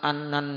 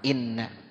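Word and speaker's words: إنّ: seorang ustadz bacanya summa annan nikah. Emang kadang-kadang di kitab ditulis harokatnya, cuma harokat yang salah jangan diikutin. Kalau kita ngerti ilmu nahu tuh, ya kalau abis summa bukan anna bacanya, tapi apa? Inna.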